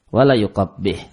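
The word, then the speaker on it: ولا يقبح: Maka dia dibaca tasdid, maksuratan dan dikasrah, sehingga bacanya wala yuqabbih.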